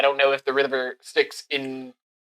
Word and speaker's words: Styx: that uh doesn't matter you just call me sticks like the river sticks like the basically yeah